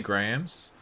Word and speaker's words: graham: You guys say Graham. Yep. Because there's a H in the word.